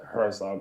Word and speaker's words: Herzog: Yeah, honestly, I pronounce it the English way, like Herzog, but I know it should probably a German name like Herzog or something like that, you know?